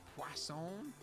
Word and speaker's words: Poisson: something called disk distribution quason there's no w in it but you know i was told that that's how you say it i guess it's french when we use this